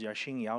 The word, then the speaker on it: Yashin Yao: um my name is Yashin Yao if you don't know how to pronounce the name replace the X with SH that's how you pronounce it um I'm a